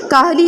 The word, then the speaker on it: کاہل: درست تلفظ واضح کریں۔ پہلا لفظ ہے کاہل، کاف پہ زبر، ہے کے نیچے زیر اور لام پہ جزم۔ قوا، کاف بڑا کاف